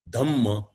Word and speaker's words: Dhamma: Dharma as pronounced in Sanskrit and the Pali Prakrut pronunciation as used by Bhagavan Buddha and the whole Jain tradition, the word is Dhamma.